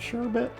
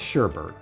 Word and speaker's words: sherbet: I've realized that it's spelled sherbet. Some people, I think, call it sherbet. It's sherbet.